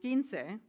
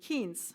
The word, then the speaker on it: quince: Even though it was clear in the text with the pronunciation key that the word was pronounced quince, locally, my friends and I would say quince for short.